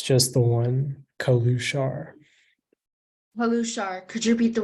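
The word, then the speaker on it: călușar: Are there any alternate pronunciations? It's just the one, Kalushar.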